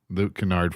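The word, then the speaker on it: Luke Kennard: And I'm going to mispronounce his last name. Would it be Luke Canard? It is Luke Canard.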